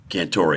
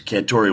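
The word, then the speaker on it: Cantore: He goes, Cantori, when you make it to the big time, I want you to pronounce that vowel on the end of your last name.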